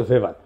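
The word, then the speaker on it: Max Weber: থাকে কার্যকর থাকে না আরেকজন দার্শনিক আছে ম্যাক্স ভেভার এটা ওয়েভার বলে অনেকে এটা উচ্চারণ আসলে ভেভার তার একটা লেজিটিমেসি এবং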